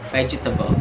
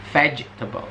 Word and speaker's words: vegetable: Ya, banyak yang sering salah pengucapannya. Jadi mereka kayak misalnya vegetable, vegetable, vegetable, vegetable.